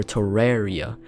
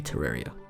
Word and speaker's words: Terraria: Rey like r-a-y for Terraria for it's based off the word terrarium which is pronounced with a re sound The Holy Hand Grenade